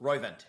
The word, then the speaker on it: Roivant: You founded and served as executive chairman of, how do you pronounce it? Roivant Sciences. Roivant, yeah.